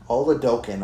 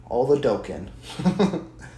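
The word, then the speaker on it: Oladokun: Oladokin, okay. I'm glad I heard you say Trent because I've been saying his name wrong this whole time. Oladokin.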